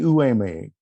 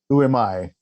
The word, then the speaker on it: Uemai: In fourth place with a score of 80.7, also from Japan, Naoki Uwame. I said that wrong, didn't I, Hiro? I just practiced it and I said it wrong. Uemai. Naoki Uemai.